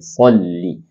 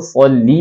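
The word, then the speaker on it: صَلِّ: सौत की आवाज को हम मुंह भर के पढ़ेंगे सल्ली, और दूसरा लाम के नीचे जेर है तो हम इसको सल्ली पढ़ेंगे, सल्ले सल्ले ले ले, इस तरह नहीं पढ़ेंगे.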